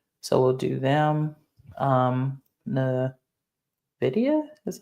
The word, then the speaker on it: Nvidia: like satellite work so we'll do them um Nidia is how you say it yep Nvidia is a great company um who else should